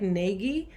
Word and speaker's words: Nagy: It looks like Nagy, but I use the Hungarian pronunciation, which is one syllable, Nagy. It rhymes with Taj Mahal, if that helps you remember it.